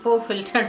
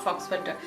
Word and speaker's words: Faux Filter: Faux filter, yeah, faux filter, not fox filter, faux filter foundation.